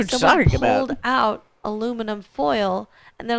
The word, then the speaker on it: aluminum: And they're like, aluminium. And I'm like, no, I think you mean aluminum.